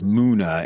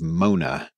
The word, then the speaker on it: Muna: muddle the pronunciation heck I even struggled to say it as Muna instead of Mona which is a completely different name Korean seems to be